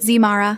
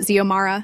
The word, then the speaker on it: Zomara: Zara, X, Mara, Zara, everything but Zomara. She picked up her red pen.